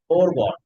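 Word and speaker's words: foregone: তো ফরগন না এটা ফরগন এটা হচ্ছে ফোর এফও ইউ আর ফোর অর্থাৎ চার ওই চার ওই ফোরের উচ্চারণ আর এই ফোরের উচ্চারণ হুবহু সেইম ফোর মানে হচ্ছেন বা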